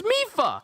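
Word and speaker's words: Mipha: So the king of Zora domain called her Maifa. Sidon called her Maifa, but in Age of Calamity, her name is Mifa.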